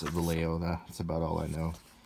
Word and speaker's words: Vallejo: met in california i know that vallejo you pronounce it valeo that's about all i know um the blue